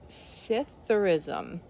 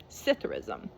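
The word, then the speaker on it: psithurism: rustling of leaves now I don't know how to pronounce it cism I'm going to I'm going to call it cism because the p is probably silent cism how have you been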